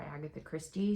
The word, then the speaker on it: Agatha Christie: there were nods to Agatha Christies and then there were none did I say her name right it's supposed to be Agatha Christie I don't know what